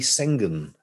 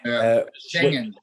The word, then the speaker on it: Schengen: So before the Schengen treaty, I pronounced that wrong, haven't I? Schengen. Thank you. It didn't sound right to me.